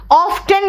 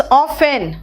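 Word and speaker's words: often: नहीं बेटा इट्स हेसन ऑफ्टन नहीं ट्स ऑफेन हसल एंड बसल जो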